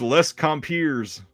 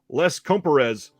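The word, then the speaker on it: Les Compères: talk about this tonight can you tell me how to pronounce it and she said sure Les comparez I was like wow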